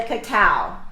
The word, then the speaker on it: cacao: Then comes the cacao, okay?